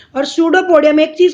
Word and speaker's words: pseudopodium: इसको पी जो होता है बेटा, पी इज द, इसमें साइलेंट होता पी, सूडोपोडिया नहीं पढ़ेंगे इसको, सूडोपोडियम या सूडोपोडिया रीड करते हैं, पी साइलेंट होता है इसके अंदर।